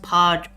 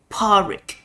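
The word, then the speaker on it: Pádraig: The name Padriak is pronounced Parik, with a D being silent. Parik. It's the Irish version of the name Patrick.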